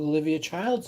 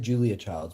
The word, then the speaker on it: Julia Child: you don't know who Livia child's is maybe I'm saying her name wrong Julia I said Julia Child's before name is uh Julia Child Oh Julia Child I